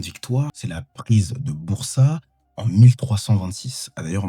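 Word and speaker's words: Bursa: Mais normalement, on dit bourse.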